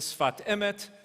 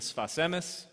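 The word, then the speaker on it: שפת אמת: the rabbi from Ger, is better known as the Sfat Emet, or, if you prefer the Ashkenazi pronunciation, the Sfas Emes, which is the name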